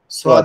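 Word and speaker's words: صاد: অক্ষরটা হচ্ছে সদ সদ অক্ষরটা আমাদের জিহবার আগা নিচের দাঁতের সঙ্গে লাগবে সদ সদ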